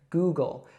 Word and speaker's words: Google: So that's exactly how we'd say it, Google. So we have a long oo sound there first, so goo, and then we have that dark L sound again here, go, Google.